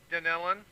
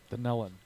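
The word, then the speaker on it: Dunnellon: First off, yes, it is pronounced Denellen. Denellen.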